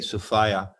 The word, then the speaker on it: Sophia: sophia which means wisdom i say sophia rhymes with desire okay i like that